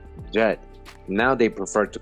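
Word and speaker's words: Djet: called the serpent king later egyptologists pronounce his name jed now they prefer to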